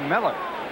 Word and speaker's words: Mueller: we were playing in New York and he pronounces his name Miller not muted sure doesn't look like it doesn't